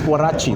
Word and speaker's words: Waragi: Waragi is like, it's Warachi. That's the proper pronunciation.